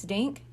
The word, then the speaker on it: Dink: for a few weeks dink she explained your name is Dink Sammy asked dink nodded at the boy dink Sammy repeated that rhymes with thank and pink and stink making Rhymes helps Sammy